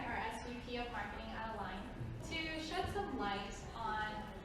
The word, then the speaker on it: A-LIGN: Commonly pronounced A-LIGN. Correct term is A-LIGN.